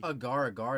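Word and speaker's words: Agar Agar: that great and we are going to be Agaragar that's how you say her name bro I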